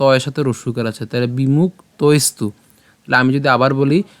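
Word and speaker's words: বিমুক্তৈস্তু: যে ত টা রয়েছে এই ত এর সাথে আমরা ঐকারকে নিয়ে গেলাম তাহলে তৈ এবং দেখেন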